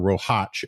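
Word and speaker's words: Roháč: I should say Dalibor Rohac, even though he has conceded that Americans will just never be able to pronounce a standalone C at the end of a name the way you're supposed to in Slovakian.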